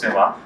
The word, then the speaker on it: Soumah: This is Soumah. I pronounced the last name correctly. Soumah, yeah.